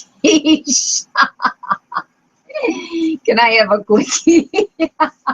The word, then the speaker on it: quiche: At that point, a diner at the next table leaned over and said, I think you'll find it's pronounced quiche. K-E-E-S-H. Quiche.